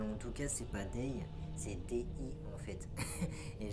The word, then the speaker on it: Dei: par exemple quand vous voyez comme là Dei, c'est pas Dei en fait, c'est Dei. En fait tout se prononce dans l'italien.